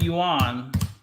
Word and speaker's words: yuan: though it looks like yuan. The proper way to say it is it's kind of like WREN. It sounds close to yen, but it's yuan.